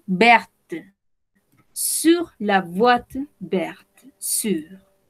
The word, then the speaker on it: sur: Sur. En este caso, si prononciamos la R.